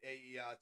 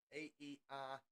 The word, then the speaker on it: AERT: We know Sam and Goto are driving for the AERT team. AERT team.